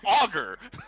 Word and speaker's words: ogre: So it's auger.